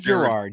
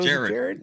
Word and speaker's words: Gerard: uh well I'm GNA go with uh people pronouncing it Gerard Way It Is Gerard you killing me so Jared yeah Geral Gerard ask me guys I I